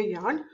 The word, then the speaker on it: Jan: It is, the pronunciation is for J, it is Y. Ich heiße Jan.